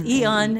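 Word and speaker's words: Aeon: It's Eon, A-E-O-N. Pronounced Eon, spelled A-E-O-N, because it was not my best choice of pseudonym ever.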